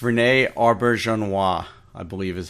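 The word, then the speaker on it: René Auberjonois: I think I know how to pronounce it. It's Renee Auberjonois, I believe is how you pronounce it.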